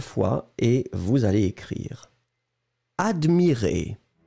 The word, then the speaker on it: admirez: attention encore une fois on va prononcer les deux je regarde oui le premier admirait qui monte et le deuxième admirez qui descend d'accord admirait admirez vous